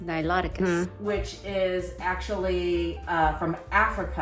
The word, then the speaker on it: Niloticus: They make another kind of Nicolita, Wrong pronunciation. It's pronounced Niloticus.